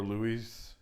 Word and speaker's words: Louis: I don't know if it's Louis or Louise. Yeah. What is it? Louis.